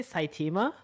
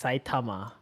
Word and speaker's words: Saitama: what did you say did you say saitima yeah how do you say it it's saitama okay sorry i'll fix